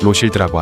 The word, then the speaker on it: 로실드: 여기서 로스차일드를 프랑스어로 발음하면 로실드라고 하죠.